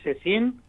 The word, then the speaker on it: Secin: Acá dice, escuchando al doctor Cecín, muy interesante lo que explica y está dando y didáctica.